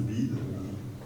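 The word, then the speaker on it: BYD: avec notamment une marque, je crois qu'on ça se prononce BID, qui est passé en un an de la 10e à la 5e position mondiale, etc., etc.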